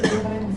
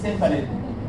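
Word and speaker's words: cephalin: خلي بالكم بعض الدكاتره عندنا بينطق كيفالين سيفالين. فلما تنطقها كده اتس اوكي يعني لو سمعتها كده اتس اوكي. فاسمها كيفالين او سيفالين.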